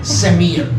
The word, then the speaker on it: Samir: I said, I'm Sam, because my real name is hard to pronounce it. Samir, S-A-M-I-R.